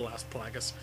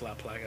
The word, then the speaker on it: Las Plagas: They call it the Las Plagas. It's actually pronounced La Plaga, it's Spanish after all.